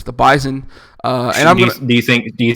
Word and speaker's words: Bison: the Bison in this one and yes it's pronounced bison I know if you if you look it up it's gonna say bison like a buffalo but any South Dakota State